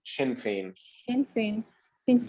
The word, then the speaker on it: Sinn Féin: इसको शीन प्रोनाउंस करते हैं, शिन फेन, शिन फेन।